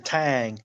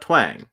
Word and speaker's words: twang: my voice but I I can feel your Tang no not mat Tang mat twang no but I did say twang no you didn't you said Tang well I my my tongue said twang if it came out as Tang that is how hard my twang was okay anyway but